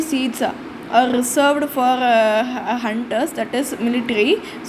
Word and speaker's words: junta: of Hunter so uh janta is pronounced as a Myanmar Hunter simply means military um